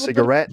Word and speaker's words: cigarette: Cigarette or cigarette? I would actually put the stress on that one in the last syllable. Cigarette. Okay, A cigarette.